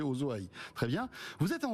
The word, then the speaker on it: OSO-AI: et directeur technique d'Osso comment on prononce ozo zo voilà j'ai tout faux j'ai faisit Oso e vous dites que c'est oosoï très bien vous êtes